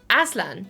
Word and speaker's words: Aslan: Beaver, Asian is going to be a lion villager. Oh, Asian? No, what? Wait, hold. Oh my god, how do you pronounce that? It's Aslan. No. Asian. Who's Asian? Aslan.